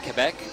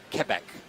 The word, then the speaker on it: Quebec: is Heat number 30 I mean you say Quebec Canada Quebec Quebec that's how they say it up there Quebec I mean it's not